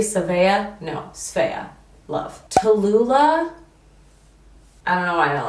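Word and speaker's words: Sbea: i love it s-b-e-a two syllables sphere a lot of people think it's three seven no sphea i don't know i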